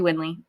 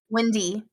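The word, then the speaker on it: Windey: beautiful ever funny Gabby windley we love her how do you say it Wendy Wendy okay I'm so sorry well we still love her um I thought there was an L in there uh and uh ior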